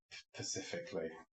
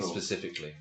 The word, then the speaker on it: specifically: The one that winds me up is when people constantly mispronounce Pacifically. I've got a Pacific problem. What? The ocean. Bloody just off California. You know what they mean, though. You don't think. You think, how have you got this far in life that you can't see the S on the front and you can't be bothered to pronounce it?